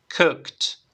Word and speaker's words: cooked: final y ya tendríamos cooked y la pronunciación en este caso termina en t Vale cooked entonces se